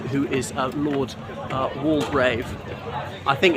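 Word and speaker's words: Waldegrave: is a lord uh wall grave I think it's going to be pronounced wall grave not wall duck Rave me thinks the middle syllable is silent because he was a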